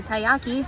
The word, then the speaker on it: taiyaki: In front of Mom is the taiyaki, which I guess I was pronouncing right according to the cast member.